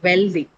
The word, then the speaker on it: wealthy: Next one is wealthy. Wealthy. Second one. Wealthy is No, it's not on the second one. It's on the first one.